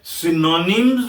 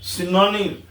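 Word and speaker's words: synonyms: Thesaurus वो word होता है वो डिक्शनरी होती है जिसमें सिनोनिम्स और एंटोनिम्स मिलते हैं। क्या मिलते हैं? सिनोनिम्स। मैं फिर आपको आगाह करूंगा। ये सिनोनिम्स है।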